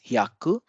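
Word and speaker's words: 百: Hi plus ya becomes hya. This is again a blended sound, and this is ku. So 100 is hyaku.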